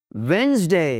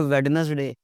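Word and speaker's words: Wednesday: Weather, वेंसडे जी, डी की आवाज नहीं आएगी भाई, डी की आवाज नहीं आती। इट्स नॉट अ वेडनेसडे, इट्स वेंसडे।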